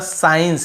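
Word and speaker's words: science: पे देखिए साइंस हम केवल एस के बाद साइंस ऐसे पढ़ रहे हैं इसको यहां पे साइंस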